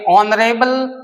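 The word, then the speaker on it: honourable: फिर देखिए ऑनरेबल person, ऑनरेबल भी एच साइलेंट है, इसका उच्चारण ओ से शुरू हो रहा है, अर्थात हिंदी में अगर हम लिखें तो कैसे लिखेंगे? ऑनरेबल, इसीलिए एन का इस्तेमाल हुआ।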